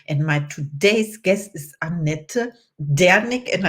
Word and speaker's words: Annette Dernick: my today's guest is aneta danik and I have to pronounce it German in the German Way because she's from Germany S I am welcome